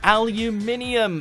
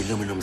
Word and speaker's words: aluminium: They really do skip out on the second I in North America.